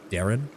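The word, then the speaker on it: Daeran: Dayron's name is sort of like saying Aaron with a D. Darren?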